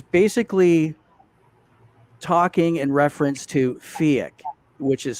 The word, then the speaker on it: PHEIC: presentation that is taking off from the last fiat report which happened on april the 19th 2021